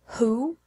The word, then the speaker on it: who: what when and where but there are a few exceptions in which the W is silent who whose and whole there are also some